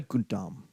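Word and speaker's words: Gautama: young prince Siddhartha Siddhartha Gundam g-a-u-t-a-m-a I've been told that the last a is silent and so I will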